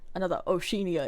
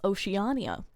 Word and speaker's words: Oceania: local warlords sought See, because I thought this was going to be another Oshia incident. I thought this was going to be another Oshia incident where I've just been saying it wrong forever. I live here. Turns out it's Oceania.